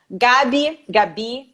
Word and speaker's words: Gaby: Gabi. Bom, fique à vontade. Bom, aqui no Brasil as pessoas optam pelo Gabi, mas eu já estou